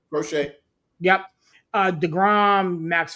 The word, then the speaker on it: Crochet: I believe I'm pronouncing that right. Crochet.